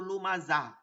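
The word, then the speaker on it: لُمَزَةٍ: হুমাজা কুল্লি হুমাজাতিল লুমাজা দেখেন হুমাজাতিল তখন কিন্তু তিল পড়ছি তা পড়ছি কিন্তু লুমাজা এখানে এসে কিন্তু হা পড়ছি কারণ কি এটা তো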